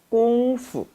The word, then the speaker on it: 功夫: 꽁푸. 꽁푸. 원래는 푸 일성이지만 발음의 편의를 위해서 종종 경성 처리합니다.